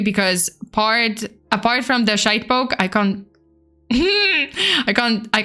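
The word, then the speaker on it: shitepoke: real name uh a shade poke it's pronounced as shite and poke you can pronounce it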